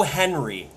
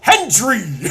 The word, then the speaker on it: Hendry: Cole has taken to overpronouncing the D in Hendry's name because he could not fucking pronounce it for a calendar year. He would call him Joe Henry every single goddamn time.